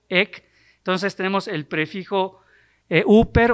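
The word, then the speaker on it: ὑπέρ: Está compuesta por la palabra o el prefijo huper, que quizás algunos lo pronuncian en griego más moderno como hiper.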